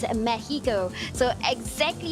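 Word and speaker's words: México: the city of Mexico and yes you don't pronounce it as Mexico it's a Mexico so exactly how you pronounce all the cities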